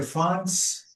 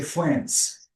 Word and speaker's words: France: So I can say France. I can say France. France is British but France is American.